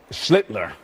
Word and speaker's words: Schlittler: Schlittler. Oh, well, he's the master. Schlittler. You now your turn. Sound like Hitler.